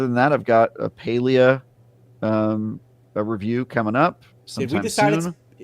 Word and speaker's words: Palia: And other than that, I've got a Palia a review coming up sometime Did we decide soon. It's Palia and not Palia?